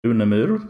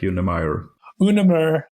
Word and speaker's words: Unemyr: say it in Swedish I pronounce it unamur but in English it usually becomes something like Yim unamur or in English Yim you're based in Sweden